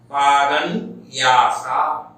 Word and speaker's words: पादन्यासा: पादन्यासा, यहाँ पर पादन्यासा इस प्रकार से उच्चारण नहीं होना चाहिए, क्योंकि हलंत नकार वहां पर उसको हम पूर्ववर्ती स्वर में जोड़ के आकर ना बोलेंगे। पादन्यासा जब मिलाएंगे पादन्यासा, पादन्यासा